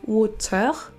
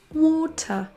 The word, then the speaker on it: water: Avec l'accent UK, ça va se terminer tout simplement par un son schwa. On ne dira pas water en prononçant le R, mais water, water.